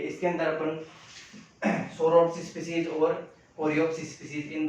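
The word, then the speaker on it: Psoroptes: इसके एग्जाम्पल, इस एग्जाम्पल की बात करें तो सोरोप्स स्पीसीज, सोरोप्स स्पीसीज, पी यहाँ पे साइलेंट है, ध्यान रखना, इसलिए इसको सोरोप्स स्पीसीज के नाम से जाना जाता है।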